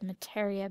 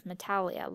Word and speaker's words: Metallia: to Queen mataria and I said mataria because I'm trying to listen to the Japanese pronunciation and in the writing for the episode they have the r and i know R and L are very non-distinguishable in the Japanese lexicon but it sounds more like an R but in English we have it as metallia like metallic oh I think we're